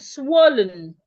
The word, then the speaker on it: swollen: word oh it also has the the o sound swollen Swollen.